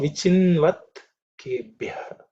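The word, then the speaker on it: विचिन्वत्केभ्यः: Namo Vichinvat Kebhyah. Namo Vichinvat Kebhyah. Namo Vichinvat Kebhyah. In this mantra, again, only one letter Ub is the aspirated one. Bhyah. The others are not aspirated, so it should be reasonably simple.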